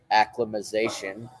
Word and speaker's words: acclimatization: the start of your acclimatization, something that I always get wrong, acclimatization, right? Acclimatization. They got to add the T in there. More syllables.